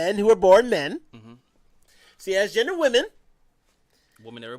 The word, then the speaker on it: cis: CIS? It's CIS. Okay. The cis, yes, CIS. Technical staff is shaking their head. No. Saying which is the right correct spelling. You don't enunciate all the letters.